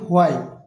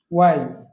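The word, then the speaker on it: why: আমি যদি বলি, তুমি কেন বাজারে যাচ্ছ, কেন ইংরেজি কি ওয়াই, আমরা বলি হোয়াই, কিন্তু এটা শুদ্ধ উচ্চারণ হচ্ছে ওয়াই।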